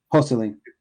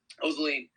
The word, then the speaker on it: Joselin: Joseline. Joseline? Yes. Okay. Joseline, I'm going to give you 10 grand or